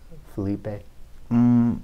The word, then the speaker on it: Felipe: Did I even pronounce it? I said Felipe. Is that the right way? Yeah, that's Felipe.